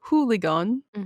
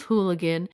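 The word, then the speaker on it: Hoogeloon: in the village of hooligan or who sounds like hooligan it's pretty close it's h-o-o-g-e-l-o-o-n which is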